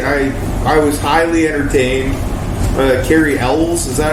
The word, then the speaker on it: Cary Elwes: Cary Elwes, is that how you say his name?